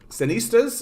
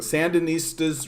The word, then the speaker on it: Sandinistas: you guys don't know the um cenistas is that the sandinistas i knew i was mispronouncing the sandinistas recently won the war